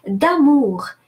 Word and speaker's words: amour: So amour does not obey this rule.